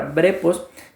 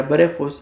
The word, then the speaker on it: brephos: es la palabra como ustedes lo ven ahí brejos que se escribe como que fuera brepos pero se pronuncia breos y significa Infante como ustedes lo ven en